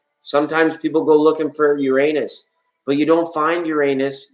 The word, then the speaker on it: Uranus: Uranus Uranus I'm like no it's pronounced Uranus and it's still a